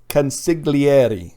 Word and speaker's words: consigliere: It's just like one of those wiggly Italian words. Consigliere.